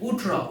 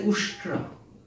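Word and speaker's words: उष्ट्र: wife's questions he replied utra utra that was the camel he wanted to say usra because he was that fool that he didn't know how to pronounce usra he said utra and the lady got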